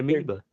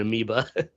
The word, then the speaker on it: Amiibo: Fucking lost my amiibo. I can't find my amiibos, man. What is it? How do you say it? Or how do you spell it? Amiibo. Shit. Amiibo. I called it an amoeba.